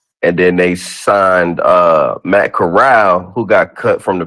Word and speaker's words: Corral: I've been calling him Matt Carroll. Matt Corral. All right, but go ahead. I'm pretty sure it's Matt Corral.